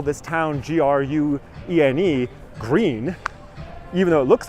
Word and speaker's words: Gruene: There is a town close to here, which is, the name of the town is spelled Gruene, I think. Gruene, right? Ostensibly. What do they call it? Green.